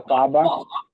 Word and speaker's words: Aquafaba: I can't even pronounce it. No, Aquafaba?